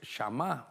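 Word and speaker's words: שמע: Porque, por ejemplo, la palabra oír, la palabra oír en hebreo es shamá o shama, pero es shamá.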